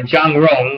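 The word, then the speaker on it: Jung Chang: I don't particularly go with the book that was written about Mao by Zhang Rong, or Chang Zhong, as it's spelled, and her husband, the Mao, the Unknown Story.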